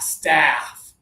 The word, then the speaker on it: staff: A staff. Staff. Good. Both of you sound great. A a like after and um and uh apple.